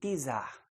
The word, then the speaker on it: czar: Se escreve com C, czar, mas o C em russo tem a pronúncia de T, tem a sonoridade de T. Então, czar.